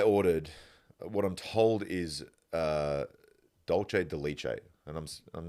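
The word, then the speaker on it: dulce de leche: I said, full confidence to the lady behind the counter, can I have 2 scoops of douche de luche?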